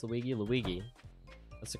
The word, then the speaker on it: Luigi: just like spawn in anywhere how do you pronounce Luigi Luigi that's the correct pronunciation what does my sister